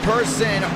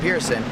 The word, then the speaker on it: Pearson: Thornquist, Conklin, Bianco, Leon, Lyles, Person, should I say Pearson? He pronounces it Pearson.